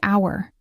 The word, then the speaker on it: hour: For example, the word hour starts with the letter h which is a consonant but the h is silent. The word sounds like hour which starts with a vowel sound.